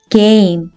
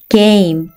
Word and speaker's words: game: 다음 단어 E는 발음이 나지 않고 G는 어떤 발음이 나죠? 맞아요. 그 A는 A, M은 어떤 발음이 나나요? 맞았어요. 무 발음이 나요. 한 번에 읽으면 game, game.